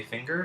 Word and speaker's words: finger: sounds in it and what we actually end up saying and hearing when we say finger is thing ger so again in this